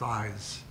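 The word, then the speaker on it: I's: had a little book called eyes pronounced eyes I'm trying to remember which EES pronounced I apostrophe s um or and after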